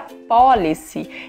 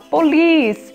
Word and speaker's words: police: Eu sempre achei que police em inglês era policy. E é tão estranho até hoje para mim falar police.